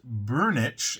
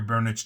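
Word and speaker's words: Børnich: Now, that's according to their CEO, Bernd Burnich, and I believe I'm pronouncing that correctly because I did look up what an O with a line through it sounds like in Norwegian.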